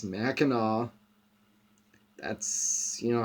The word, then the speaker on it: Mackinac: the name is pronounced it's not mackinac it's mackinaw that's you know how